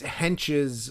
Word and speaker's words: Hentges: It's Hentges like henchman.